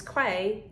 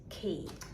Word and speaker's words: quay: the screen um and i said it was quay well actually this key can't blame you you